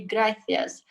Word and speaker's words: gracias: Because if when I studied in Spain, when I spoke Spanish, I would always say gracias using my tongue when I say th. And that's how you pronounce it being in Spain.